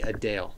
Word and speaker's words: Adele: It's supposed to be Adele. That's actually how you pronounce Adele.